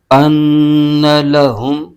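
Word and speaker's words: أَنَّ لَهُمْ: یہاں غنہ بھی ہوگا۔ لام پر زبر ہے، بغیر کھینچے پڑھیں گے، ہا پر پیش ہے اور آگے میم ساکن، میم کو ہا کے ساتھ ملائیں گے۔ اس کے ہجے یوں کریں گے، حمزہ نون زبر ان، نون زبر ن، ان، لام زبر ل، ان ل، حمیم پیش ہم، ان لہم، وعملوا الصالحات ان لہم۔ آگے جنات تجری، جیم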